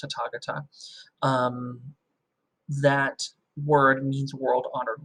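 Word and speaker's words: Tathāgata: It's spelled like Tathagata, but it's pronounced Tathagata.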